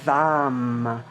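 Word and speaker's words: वं: has its Mantra and its Mantra is vam with a V so breathing in v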